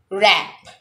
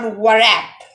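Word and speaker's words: wrap: Now, rap, rap. Each first letter is silent, so it will be rap, not warap.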